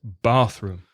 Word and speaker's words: bathroom: before Reza congratulations bathroom remember to put the stress on the first word bathroom now this is very